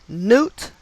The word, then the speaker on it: Knute: So I'm assuming KN is the K is silent. So Knute Rockne, a name with gematria of 47 and 137, not uncommon for celebrities.